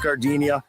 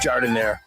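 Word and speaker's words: giardiniera: And guys, when you're at the counter, don't call it Gardinia. It's pronounced jardinire.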